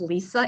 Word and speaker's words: Lise: And I will say my first name is pronounced Lisa. It's just spelled funny because my mother thought that was really cool back in that day.